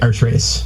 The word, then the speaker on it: Archres: h r s yes it's like Arch race Arch race AR yes so so